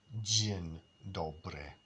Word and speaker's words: dzień dobry: Because in Polish, they have this dzień dobry. Dzień dobry. Dzień is day, right? It's almost exactly the same, but the order is different and the pronunciation is just a little bit different.